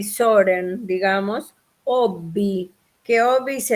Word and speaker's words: Søren: ustedes saben que Kierkegaard tenía como nombre Søren, así se pronuncia en danés más o menos, algo así, Soren, digamos, Obi, que Obi